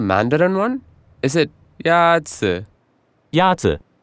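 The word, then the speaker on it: 鸭子: Ya-zi is pronounced with a first tone. In Mandarin, there are four tones, which are essential to distinguish the meaning of words. The first tone is a high-level tone.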